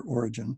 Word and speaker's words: Origen: Even Origen, or Origen, depending on how you pronounce his name, felt that there was no way that Hebrews was written by Paul.